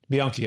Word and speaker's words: Bianchi: and I think is it Bianchi? How do you pronounce it? Bianchi.